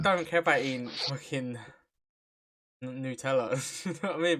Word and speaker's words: Nutella: you solve world hunger forever, but you become allergic to Nutella. Sorry, that's how it's pronounced.